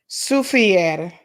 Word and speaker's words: Soufrière: This is how we pronounce it. Pay attention, folks. Soufrière.